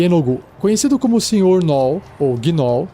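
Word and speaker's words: Yeenoghu: ele ou seja são uma maldição iogu que se escreve y e e n o g h u y enogu conhecido como Senor ou ginol e a besta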